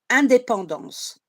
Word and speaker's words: indépendance: So in French, you call it, you say it, indépendance.